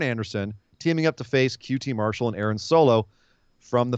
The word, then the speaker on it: QT Marshall: QT Marshall, that's the proper way to pronounce it, came out with Aaron Solo.